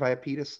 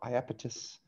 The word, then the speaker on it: Iapetus: you the picture of iopetus that's why i'm telling you about it or iapetus i hope i'm saying this right they have the pronunciation there iapetus is probably how i should have said it look at this